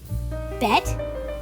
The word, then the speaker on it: BET: this show premieres on Bet? It’s pronounced B-E-T.